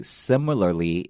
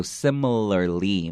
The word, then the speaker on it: similarly: So also I want to say similarly, it's even difficult for some people who speak English as a native language to pronounce correctly because you have to make sure your tongue comes out for each L sound.